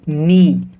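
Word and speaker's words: knee: एन से पहले के, तो जब कभी भी एन से पहले के को लिखा जाएगा तो के साइलेंट होगा। समझ पाए? इसको हम कैसे पढ़ेंगे? नी, नॉलेज, नॉट।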